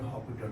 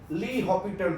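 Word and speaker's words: L'Hôpital: That's your Hospital rule, L'Hopital rule. L'Hopital rule. Li in French it is said that the Hospital rule. L'Hopital rule it is pronounced.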